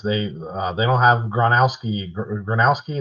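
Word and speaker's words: Gronowski: Granowski is how you say his name.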